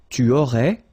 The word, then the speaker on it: tu aurais: Tu aurais, same thing here, final S not pronounced.